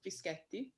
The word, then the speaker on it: Fischetti: Well, my name's Fischetti. The reason why it's important for me to pronounce my name in the way that it is because I'm Italian Colombian.